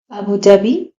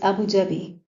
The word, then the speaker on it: Abu Dhabi: Abu Dhabi the capital of the Arabic United Amirits. Abu Dhabi it is originally or in the Arabic sorry in the Arabic language Abu Vabi.